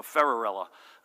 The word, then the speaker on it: Ferrarella: I asked his family I want to make sure I get this pronunciation right and they said thanks Cinderella so ferrarella John there he is